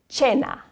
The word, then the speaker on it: cena: So it sounds like cena, cena.